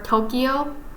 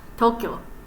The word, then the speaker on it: Tokyo: I know like some people in America call it Kyoto or Tokyo, but in actuality it's Tokyo, Kyoto. It's like the kyo sound. It's like one. It's one syllable. Like don't split it apart.